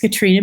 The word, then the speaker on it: Katrina: have introduced myself um my first name is katrina it's pronounced katrina because it's norwegian so it looks like catherine um and then i'm going